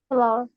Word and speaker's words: flour: Flour. Kak Grace tahu? Flour. Cara bacanya ini sama kayak kalian nyebutnya bunga ya. Flower. Flour. Ya. Jadi bilangnya sama, pronunciation-nya sama ya kayak nyebut bunga.